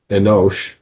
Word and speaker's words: Enos: It would have been pronounced in Hebrew Enosh, but why does the Book of Mormon translation give it to us as Enos?